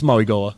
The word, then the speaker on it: Mauigoa: It's Mauigoa. Mauigoa?